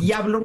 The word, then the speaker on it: Jablon: es jablon sin acento es qué jablon es yablon o yablon es yablon porque es polaco Ah pero y la